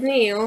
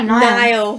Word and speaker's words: Niall: With Neil, he's like, Neil. I'm sorry, I get the name. He's just Neil guy. Try Niall.